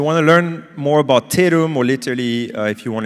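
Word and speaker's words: Tatum: So if you want to learn more about Terum, or literally if you want to use our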